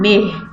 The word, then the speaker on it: neigh: इस वर्ड की प्रोनाउंसिएशन सीख लें बेटा. इसको पढ़ते हैं नेह.